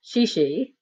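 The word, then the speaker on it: 谢谢: 2 and said she she which is pronounced she she and means thank you and we headed further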